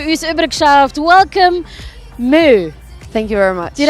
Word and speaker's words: MØ: this prom to use a brick shaft welcome Moo thank you very much did I pronounce it correctly you really did I did